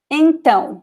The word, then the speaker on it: então: of graphic accent, you already know that that syllable, that little letter is the stressed letter in that word. Okay, so for example, então, we have this tiny, it is called tilde here.